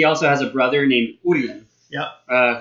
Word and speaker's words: Urien: he also has a brother named Urien. Yep. Who is often mispronounced Urin.